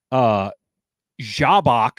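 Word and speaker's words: Jhabacc: Jabak, which is spelled like Sabacc but with a J and an H.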